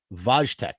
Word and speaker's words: Wojtek: 1963 vaj wage vojtek so it's not with a w uh in polish first of all it's polish not russian pardon me sometimes in english sometimes it's spelled wojtek vojtek that's how it is vojtek okay forgive me oh